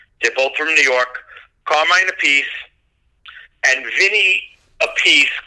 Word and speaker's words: Appice: from New York Carmine Appice and Vinny Appice calls himself Vinny apathy is his younger brother which they they didn't explain why they pronounce the names differently but that they're super